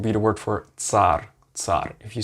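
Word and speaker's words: царь: if you're in english you take like a t and an s after each other that's the way you pronounce this letter for example as in bits bits bits of something bits and an example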